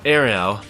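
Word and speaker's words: Ailell: Oh, Ariel. That's how you pronounce it.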